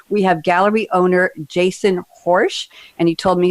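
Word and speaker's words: Horejs: have gallery owner jason horsch and he told me his last name rhymes with porsche even though it's spelled h-o-r-e-j-s go figure that one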